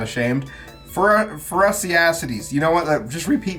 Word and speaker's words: Phorusrhacidae: I looked up the pronunciation of it. I'm not ashamed. Phorusrhacides.